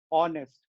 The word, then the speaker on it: honest: H E I R, H O N E S T. Everywhere, how do we pronounce it as? We don't say har, we don't say hair, we don't say honest. We say are, air, honest.